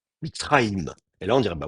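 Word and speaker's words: מצרים: Un vrai mitzram, bon, d'abord, en plus, de toute façon, on ne prononce pas mitzram. Donc, l'autre solution, ce serait de lui mettre un shfa. Mitzraïm.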